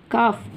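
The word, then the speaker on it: calf: काल्फ नहीं कहते, Alice silent. काफ, काफ का हमने एफ को रिमूव किया है और we have added V ई S while making the plural.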